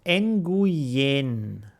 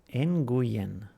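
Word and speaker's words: Nguyen: that the stuff is sitting in there it's pronounced in GU yen in GU Yin okay cool so I know that is that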